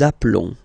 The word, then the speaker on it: appelons: Nous appelons. Okay, final S doesn't exist.